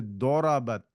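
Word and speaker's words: ضربت: You do not pronounce zwad. It's duad. It's darabat. It's dorabat. Otherwise, it will be like a dal, right? So you have to say dorabat.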